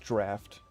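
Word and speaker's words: draught: Drop excludder or drought excludder.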